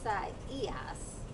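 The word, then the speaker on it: Isaias: not to butcher it it's esa es that's how they say to pronounce it um it's the spanish latin derivative of the hebrew name isaiah which was a prophet in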